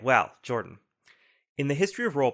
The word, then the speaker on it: Jorphdan: junction my name is Jord with a silent pH in the middle and I'm joined by